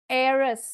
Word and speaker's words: heiress: Certain words starting in H where H is silent in pronunciation. Pronounce பண்ணும்போது பாருங்க H, air, air, heiress, R, honest, honor, honorary.